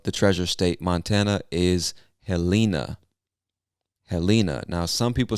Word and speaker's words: Helena: treasure state montana is helena helena now some people say helena others might say helena it's really i guess a question of preference so you say what you want but i would say helena montana all right next